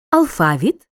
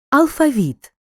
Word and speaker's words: алфавіт: слові піцерія другий склад деякі слова в українській мові мають подвійний наголос алфавіт алфавіт завжди завжди мабуть мабуть в українській